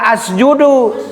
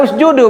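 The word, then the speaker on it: اسجدوا: Us Awas jangan dibaca asjudu. Awas. Kenapa dibaca usudu bu? Huruf ketiganya. Huruf ketiganya berharakat domah.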